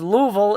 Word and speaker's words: Louisville: He says Louisville is the correct pronunciation.